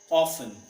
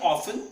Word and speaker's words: often: That's often. British में often and American से often. What? Often. दोनों ही वर्ड सही हैं.